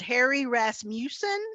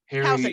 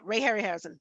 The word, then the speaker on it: Harryhausen: Like, I remember watching growing up, is it Harry Rasmussen? Is that how you pronounce his last name? Who did a lot of stop motion? Harryhausen. Okay, Hausen. Ray Harryhausen. Yeah, Ray Harryhausen.